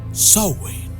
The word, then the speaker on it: Samhain: Para algunos es Halloween, para otros Samhain, pero lo correcto es pronunciarlo como Samhain.